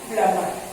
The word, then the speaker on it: plumber: उसे हम कहते हैं प्लम्बर. क्या बोलते हैं? प्लम्बर, नॉट प्लम्बर. नो, the pronunciation is प्लम्बर.